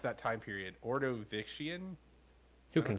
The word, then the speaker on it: Ordovician: Ordovician. Who can say? Ordovician. I don't know if it's a hard C. If it was Latin, it would be a soft C.